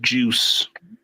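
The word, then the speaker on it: Juszczyk: gosh Kyle Kyle yeah even his name is pronounced juice um oh my God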